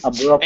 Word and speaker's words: abruptly: Abruptly. And that T is going to be silent here. We wouldn't say abruptly. It's abruptly. Okay.